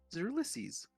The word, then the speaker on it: Ulysses: key to the hells and how to defeat Ulysses. So like how you pronounce that name?